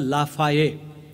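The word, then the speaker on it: Lafayette: कर्तबगार सेनापती general लाफाये spelling करताना ते एल A double F A double Y e double T काय काहीतरी होतं फ्रेंच शब्दांच्या स्पेलिंगच्या फंदात शहाण्या माणसांनी पडू नये पण स्पेलिंग नुसार उच्चार पण करण्याच्या फंदात पडू नये त्यांनी आधी त्याचा उच्चार काय असतो जाणून घ्यावा या सेनापतीच्या नावाचा उच्चार जनरल लाफाये त्याच्या नेतृत्वाखाली सैन्य प्रत्यक्ष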